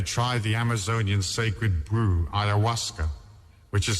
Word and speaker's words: ayahuasca: people that they try the amazonian sacred brew ayahuasca which is spelled a y a h u a s